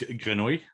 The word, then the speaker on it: grenouille: So, which is, yeah, because the word frog in French is so difficult to pronounce that English people can't say it. Frago. So it's grenouille.